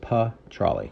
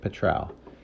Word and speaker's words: petrale: That's pronounced pa-trale. I know it looks like petrale.